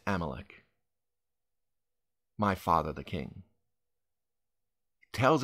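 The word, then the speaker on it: Abimelech: but I will be king amalec that's actually the correct pronunciation this time hopefully I stick with that AMC he his name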